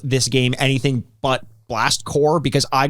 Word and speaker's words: Blast Corps: As a dumb kid, I actually would have loved that they called this game anything but Blast Core, because I called it Blast Corpse.